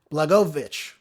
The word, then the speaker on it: Blagojevich: Ex-governor Rod Blag- I always say his name wrong. I got to say it slow. Blagojevich.